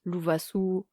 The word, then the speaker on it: Lovasoa: Et en fait, en entier, c'est « lovasoa » ou en fait « louvasu » en malgache.